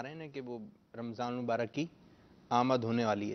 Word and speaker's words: رمضان: تلفظ کے ساتھ لیں، جیسے قرآن پاک میں را پر بھی زبر ہے، میم پر بھی زبر ہے، رمضان۔ تو رمضان رمضان اس